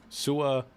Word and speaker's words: Suamataia: Suamataia, I think is how you say it.